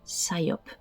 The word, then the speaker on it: psyop: à grande échelle que les Américains appelle SOP donc en fait ça s'écrit Psyop qui veut dire opération psychologique une opération de syop alors quand on commence